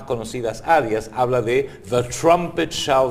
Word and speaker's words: trumpet: es una revista británica en inglés trompeta se dice trumpet se pronuncia igual que Trump y le agregas la et al final trumpet que alude a la